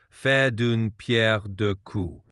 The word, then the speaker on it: faire d'une pierre deux coups: For pronunciation, it would be something like faire d'une pierre deux coups.